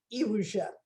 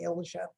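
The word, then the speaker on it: Iłża: a small town called illusia it's spelt i l z a the l is the broken polish l and the z is the dotted polar z so it's actually pronounced eugen but we anglicize it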